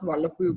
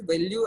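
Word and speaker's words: Velpeau: This is pronounced as value, not Wallopu view.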